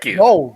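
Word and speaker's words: Gould: was like what is he doing there did pronounce that correct as well gold it is g g yes so when he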